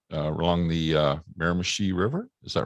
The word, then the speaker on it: Miramichi: So you're as part of where you're from in New Brunswick, you said along the Miramichi River. Is that right? Is that how you pronounce it? River. That's it. Yeah, Miramichi.